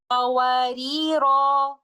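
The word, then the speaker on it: قواريرا: When stopping at the word qawarira in ayah number 15, we stop with an alif mad like this, qawarira.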